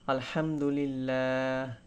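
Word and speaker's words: الحمد لله: অর্থাৎ এটা যদি আমরা সঠিকভাবে উচ্চারণ করার চেষ্টা করি তাহলে আলহামদুলিল্লাহ।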